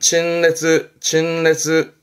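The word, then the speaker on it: 陳列: 발음은 친레즈.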